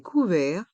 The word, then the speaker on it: couverts: le couteau la cuillère dans le mot couvert les dernières lettres T et S sont muettes et le r reste en suspens les couverts la fourchette